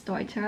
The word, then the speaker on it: Deuter: The German way to pronounce it is Deuter. I think in English it's like Deuter.